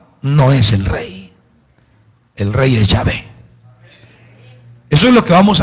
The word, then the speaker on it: Yahvé: Los lingüistas hebreos, o mejor dicho, lingüistas estudiosos del hebreo, dicen que Yahvé es más o menos la pronunciación cercana. Yahvé.